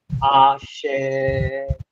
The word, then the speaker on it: Axé: O ideal seria o A, o S e o E serem pronunciados no mesmo tempo. É difícil. Agora, axé, axé, axé, axé.